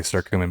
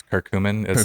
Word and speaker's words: curcumin: I never nada pronounces I always say sir cumin but it's curcumin okay Kirk I take the